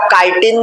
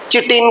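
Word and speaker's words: chitin: किंतु तांकर जो सेल वॉल टी अछि सेटा काइटिन द्वारा तयारी का द्वारा तयारी तो केते जण ताको चिटिन भी कहउछन्ती प्रोनाउंसिएशन चिटिन केते जण कहउछन्ती केते जण काइटिन कहउछन्ती तो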